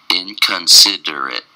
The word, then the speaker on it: inconsiderate: Today's word of the day is inconsiderate. Inconsiderate. Inconsiderate. Inconsiderate. It's five syllables, and the stress is on the third syllable. In-con-sid-er-it. In-con-sid-er-it. Inconsiderate.